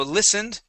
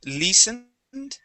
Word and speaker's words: listened: Okay, so listened here. We're going to use a short I sound. So instead of saying listened, it's li. Listened.